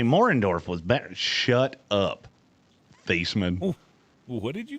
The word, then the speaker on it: Theismann: It's like Joe Theismann. Old Joey Theismann? Yeah, that's not how you say his name. No, he changed it because he was a candidate for the Heisman.